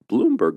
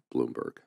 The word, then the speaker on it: Bloomberg: that calls them Bloomberg but he calls himself Blum that's the European pronunciation well I mean I